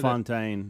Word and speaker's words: Bellefontaine: Belafontaine or Belafonte? How do you say that? Bellefontaine. If you're from Missouri.